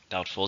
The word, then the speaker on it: doubtful: Doubtful is an adjective. How many syllables? Doubtful. There are 2 syllables, stresses on the first.